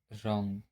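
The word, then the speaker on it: wrong: ऐसे ही इसका rule number 2 है, अगर आर से पहले डब्लू आता है तब डब्लू साइलेंट होता है। जैसे रॉन्ग, राइट, रैप। यहाँ आर से पहले डब्लू आया हुआ है, इसलिए क्या है, ये साइलेंट लेटर है।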